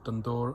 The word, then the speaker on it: tandoor: Hi guys, as requested, I thought I'd video my build of a tandoor, or tandoor as it's traditionally pronounced.